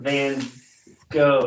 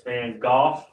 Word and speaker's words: Van Gogh: So it's not Van... Go, it's Van Gogh.